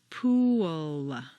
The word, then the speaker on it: pool: of this strange phenomenon pool looks like a nice one-syllable word but if you say it this way at best it will sound like and at worst it will be unintelligible to your listener for Clear comprehension you need to say three syllables pool where did that W come from it's certainly not written down anywhere but it is there just as definitely as p is there the second example is